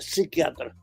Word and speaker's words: psiquiatra: no está señor pero no se dice psiquiatra la p es muda la p no se no se pronuncia se dice psiquiatra Ah Bueno De parte